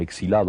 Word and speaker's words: exilado: un pequeño aparte eh yo nunca me consideré un exilado o exiliado nunca he sabido Cómo se dice se dice de las dos maneras por lo visto tal vez yo digo exilado eh nunca me consideré